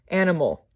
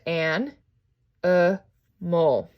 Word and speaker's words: animal: the open syllable with something like animal i don't say is an i mal right i'm saying as an uh mole where right here i'm